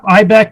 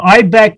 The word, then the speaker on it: IIBEC: ibex stands for yeah ibec is an acronym uh international institute of building enclosure consultants uh we always say the first i is silent so um ibec used to be uh